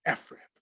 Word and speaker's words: FRIB: still beams or f-rib i know it looks like fred it's pronounced ephrap just trust me on okay i promise i